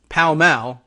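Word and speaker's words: Pall Mall: carton or pack of what we would say as like paul malls but uh in in england is pronounced something closer to palmell and uh surprises them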